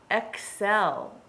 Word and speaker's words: excel: ready the word is excel okay there is no s in that word excel think about the rules